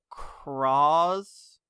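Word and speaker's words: Cross-Z: Because it's spelled cross with a Z. And it's kind of pronounced cross.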